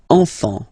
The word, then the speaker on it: enfant: Don't pronounce the T, you don't pronounce the S.